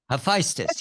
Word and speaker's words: Hephaestus: Hephaestus, is that how you say it? Hephaestus? Hephaestus, yes. Hephaestus, yes.